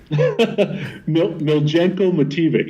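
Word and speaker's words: Miljenko Matijević: too, and I know Sonny has the correct pronunciation of the singer's name. Miljenko Mativic.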